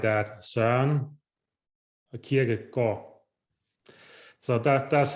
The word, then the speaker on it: Søren Kierkegaard: So if anybody wondered how to pronounce his last name or pronounce his name, it's Søren Kierkegaard. You say it like that, Søren Kierkegaard.